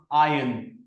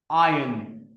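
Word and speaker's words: iron: सो जब भी जो आर है वो किसी वोवेल के बाद आता है उसे जनरली ड्रॉप किया जाता है। एंड it's pronounce आयरन आयरन rather than saying आयरन।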